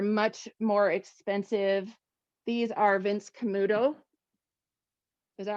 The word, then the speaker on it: Vince Camuto: real suede they're much more expensive these are vince camuto is that how you say it say it rebecca yeah vince camuto um but i love vince camuto shoes if